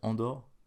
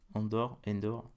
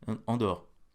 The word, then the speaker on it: Andor: Je sais pas comment ça se prononce, c'est Andor. Endor. Non, pas Endor. Andor.